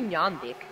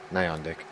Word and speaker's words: Nyandik: No, I'm actually Nyandik. Yeah, Nyandik. Nyan, Nyan Cat, whatever. Nyan the Cat.